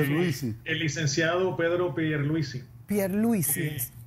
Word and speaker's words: Pierluisi: Ajá, pero es que ¿cómo es que se pronuncia? Pierluisi.